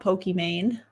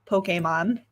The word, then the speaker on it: Pokimane: talking about Pokemon uh that's how you pronounce her name not Pokey Main it's a play on Pokemon the game obviously and she is a